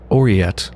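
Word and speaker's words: aureate: pronouncing that correctly ah it's pronounced or yet like aura or yet made of or having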